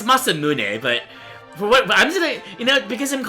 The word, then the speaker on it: Masamune: Fun fact, it's it's pronounced Masamune, but I've always pronounced it Masamoon as a kid, you know, before